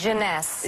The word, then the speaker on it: Jeunesse: How do you pronounce this? Jeunesse.